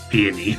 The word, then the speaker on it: Peony: I think it's also just Peony, which is, again, it's the name of a flower.